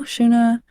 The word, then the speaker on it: Shuna: okay here we go shuna pronunciation s h o o hyen Nu shuna rhymes with woa which is not a word uh Siri don't look